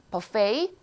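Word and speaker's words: buffet: 한국말로 부패 혹은 비패라고 하는이 아이를 발음을 버 아니고 부펜 아니고 발음이 조금 어렵죠. 혹은페이라고 발음하는 단어예요. 부페 꼭 기억해 놓으시고요. 발음이 좀 어렵습니다.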